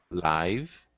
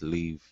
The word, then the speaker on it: live: This TV show is always broadcast live. And where do kangaroos and koalas live? Awesome pronunciation on those.